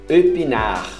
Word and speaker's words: épinard: Espinafre, épinard, só até a letra R.